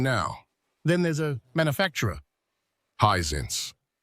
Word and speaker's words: Hisense: Highsense. Correct. Highsense is never I think pronounced like that.